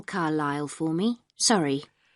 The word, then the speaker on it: Carlisle: way could you spell carlisle for me sorry it's c a r l i s l e you don't pronounce the s carlisle way and that's